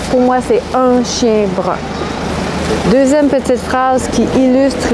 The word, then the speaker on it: brun: Donc, un chien brun, j'ai des amis français qui sont incapables de le prononcer comme moi, ils disent un chien brun, c'est la même voyelle. Donc, pour moi, c'est un chien brun.